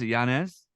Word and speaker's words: Yanez: how do you say your last name is Yanez yeah Giannis yep all right perfect this is uh I